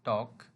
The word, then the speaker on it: talk: Look at the word talk. Here L is silent.